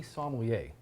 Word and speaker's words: sommelier: you're basically an artisanal, you are a tea sommelier. There it is. Thank you. Tell me what a tea sommelier does. Well, one of the easiest way I like to start off is like Somalia, the country.